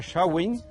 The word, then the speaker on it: Samhain: Samain irlandés se pronuncia Samhain y de ahí viene el Halloween.